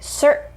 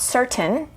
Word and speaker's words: certain: let's just practice so this word would be cert not certain that's okay but native speakers say certain i have a certain way of pronouncing certain another example is cur